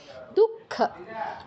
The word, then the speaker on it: দুঃখ: आपदन न চ পশ্যন্তি শোক দুঃখ, বিসর্গের পর খ ক বা খ থাকলে বিসর্গর জায়গায় ক্ষয় হসন্ত উচ্চারণ হয়, তাহলে কি হবে? দুঃখ। শোক দুঃখ ভয়ঙ্করীম।